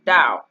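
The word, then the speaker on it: Tao: that right who's called the title pronounced dao literally translated this means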